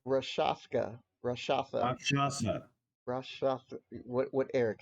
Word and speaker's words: Rakshasa: How do you pronounce that? The Raskasha? Rakshasa. Rashaka. Rashasa. Rakshasa.